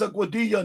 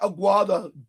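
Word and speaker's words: Aguadilla: When I read the comments, everything was AI By the way, it's Auadia, not Aguada, dumb ass.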